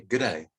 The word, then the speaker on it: g'day: but um you know everyone says good day but australians say good day good day just this very soft g anyway here we go